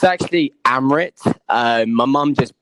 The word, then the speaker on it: Amarath: Yeah, so it's actually Amarath. My mum just butchered the name.